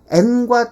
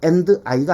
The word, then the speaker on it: and: 자, 얘를 잘 보시면 n과 d가 연달아 나왔죠. 서름이 두 개 연달아 나왔어요. 아주 못된 놈이에요. 그래서 하나만 발음할 거예요.